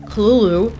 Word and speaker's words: Cthulhu: The call of Cthulhu or Kulu cuz it's actually how you pronounce his name. It's kind of weird.